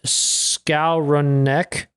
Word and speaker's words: Skowronek: But we kept Ben Skowronek.